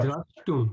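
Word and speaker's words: draṣṭum: The S is a dot underneath, so it's a sh. So Sure. drashtum, exactly, drashtum. Okay. If the dot wasn't there, it would be drashtum.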